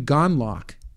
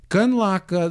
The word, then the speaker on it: Gundlach: Jeffrey Gundlach.